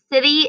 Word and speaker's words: city: couple of different ways when i say city sometimes the t can sound like a letter d city but it's actually spelled with a t city also sounds like it starts with a s an s sound and at the end